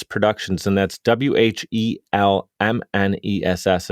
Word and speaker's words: Whelmness: Whelmness Productions, and that's WHELMNESS. If everybody's listening, like, why does he keep mispronouncing the word wellness? I'm saying Whelmness Productions, and Jacki started that in 2018.